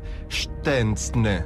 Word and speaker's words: Szczęsny: L'esatta pronuncia è Wojciech Szczęsny. Questa è la pronuncia polacca.